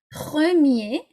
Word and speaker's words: premier: If the word ends in ER, okay, then you don't pronounce the R. So it would go like that. Premier, so don't pronounce it, or première.